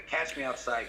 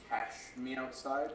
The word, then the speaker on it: Cash Me Outside: Who, for those of you that don't know, the Catch Me Outside gal was a 13-year-old individual who went on Dr.